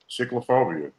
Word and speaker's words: chiclophobia: Chiclophobia. Like chiclet. Like chiclets.